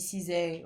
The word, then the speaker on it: SZA: On va l'appeler Za. C'est grâce à Za. C'est grâce à Ça, hein. Franchement, c'est grave à ça. Ça se dit Cizay.